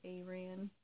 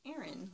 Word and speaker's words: Aran: I said Aran, and a very kind lady told me it's pronounced Aaron, like the name.